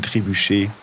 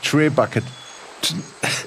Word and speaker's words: Trebuchet: Aber ist es nicht ein Trebuchet? Ja. Ich hab gedacht, das heißt Trebucket. Ja, ich hab das Englische mal in meinem Kopf ausgesprochen, wegen dem Bucket.